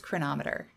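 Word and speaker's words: Cronometer: together with something else next up is chronometer the way it's spelled looks like Crow no meter holy cow does this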